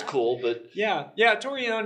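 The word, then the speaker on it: Torreon: so we pronounce it torion t that's like the more the Spanish pronunciation there's actually a town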